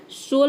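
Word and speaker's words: soul: सोल में भी देखिए ओ को यहाँ पे ओ पढ़ रहे हैं, ठीक है, और यू लेटर साइलेंट है क्योंकि यहाँ पे डबल लेटर आया है।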